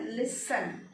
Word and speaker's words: listen: इस वर्ड को बोलते हैं लिसन. क्या बोलते हैं? LISEN. प्रोनाउंसिएशन है लिसन. टी इसमें साइलेंट है. This word has T silent.